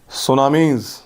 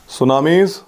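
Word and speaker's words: tsunamis: High vertical waves are called सुनामीज, TSUNAMI, T silent होता है, सुनामीज।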